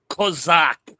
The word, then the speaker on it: Cossack: Cossacks. I've been Fascist trying has to been remember to use Cossack. It's a little more colorful. Cossacks. Although technically it's Kozak. All the Ukrainians say I say it wrong.